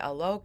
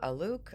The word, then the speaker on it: Alok: So, yeah, Alok. I've understood that it's a better pronunciation to say Alok instead of Aluk.